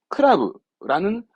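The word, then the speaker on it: 倶楽部: 한자로 감탄성이 있어 이것이 이게 클럽 크라브라는 발음을 의미 없이 갖다 붙여 놓은 겁니다 네 좀 그런게 있다고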